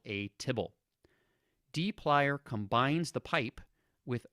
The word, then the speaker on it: tibble: Now, if you wonder why it's called tibble, try pronouncing the abbreviation TBL, which is if you took the word table and removed all of the vowels to abbreviate it. Try pronouncing that out loud a few times.